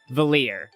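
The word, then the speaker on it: Valere: Um, and I'm going to do Artful Gambit, which for this playth through I'm going to do Valier, which I just learned that's how you pronounce her name.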